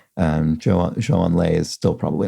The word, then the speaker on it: Zhou Enlai: Disarray has a pronunciation note for me regarding Zhou Enlai, the former Chinese premier. It says, Zhou is pronounced more like Joe, J-O-E, J sound for Z or ZH with varying tongue positioning.